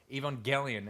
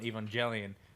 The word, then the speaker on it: Evangelion: My final question would be, why is it pronounced Evangelion and not Evangelion, since they're angels and it's a soft G in angel? Well, I think it rolls off the tongue better.